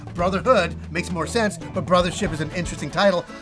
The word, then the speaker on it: Brothership: But the reason why we keep calling it Brotherhood. I don't know. I've been calling it that for months, and I'm like, Brothership.